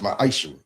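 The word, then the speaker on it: מעשר: Means 10th in Hebrew and is pronounced ma'asher.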